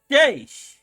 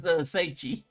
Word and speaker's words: Seiche: I say this right, Seiche. Yeah, we got it. Because the last time I kept mispronouncing it as Seiche. That's all good. That looks phonetically how it's pronounced, so sure.